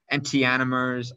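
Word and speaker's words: enantiomers: have optical isomers called antanomers i it's called people say they pronounce it differently anti-animers i just call it antanomers whatever and tanomers they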